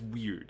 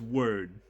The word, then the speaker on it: Wyrd: to note is that most people are going to be used to hearing that word that's part of the suffix pronounced as weird as in Hellboy web